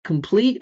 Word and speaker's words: complete: Complete. All right, the first syllable is unstressed.